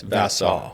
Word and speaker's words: Vassau: Is that proper pronunciation? Yes, Vassau. Yep.